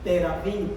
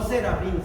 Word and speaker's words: terafín: del h 8655 que se pronuncia más o menos así terafín no Serafín no te da fin